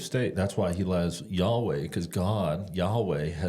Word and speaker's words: Yahweh: writing in the Bible nobody knows how to pronounce it because they didn't use vows but it it works out to YH wh and they used to Hebrews read from right to left we read from left to right so that's that's God's name when he says hey this is my name and we pronounce it as Yahweh but interesting Rick ruin